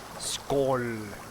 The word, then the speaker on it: skål: That weird like A with a like a round thing above it. It's all. That's how you say it. All. It's basically your guy saying O, but it's a Swedish O.